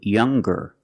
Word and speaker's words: younger: ER or with est we're going to pronounce the G sound the hard G so it's younger ger with a good sound stronger the youngest again